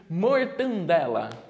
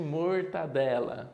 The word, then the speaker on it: mortadela: não é um clássico as pessoas pedirem mortandela acho que você escolheu eram pequenininhos também deveriam falar assim não é mortandela então ao invés de mortadela certo agora essa aqui